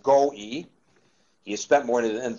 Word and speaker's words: Goewey: by Don Joseph go e w y it's pronounced go e he has spent more than 30 years helping